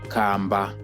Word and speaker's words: kamba: Kamba, kamba, kamba. Small house, it's kamba, kamba. Tortoise, it's kamba, kamba. So for tortoise, you can hear we are dragging it out, and we are using